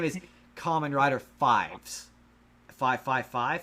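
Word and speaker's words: Faiz: name is Kamen Rider Fives, 555, because that's the number he pushes to transform, but it's pronounced. That makes Fives.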